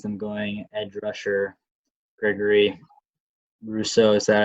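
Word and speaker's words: Rousseau: could see is them going ed rusher gregory russo is that how you say it yep he's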